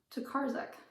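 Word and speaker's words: Tokarczuk: I don't know how to pronounce her name. I've looked it up. It has left me again. Tokarzek. Olga Tokarzek.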